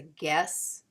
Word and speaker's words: guess: G to keep the G from sounding like J as a guess because we don't if we had g e s s that would say Jess because she followed by an e says the soft G sound and again remember this